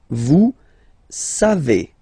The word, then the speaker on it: vous savez: Then vous savez. Classic ending for vous, E-Z, but then phonetically it's E.